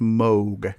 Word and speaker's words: Moog: is seldom known but it looks like it's pronounced Moog because there's two O's there but it's actually pronounced mogh correct yeah that's right it is in MO